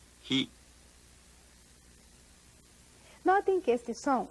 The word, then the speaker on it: ひ: 8 ひひひ Nós Notem que este som, embora se pareça com o do pronome ele do inglês he, é produzido com maior fricção.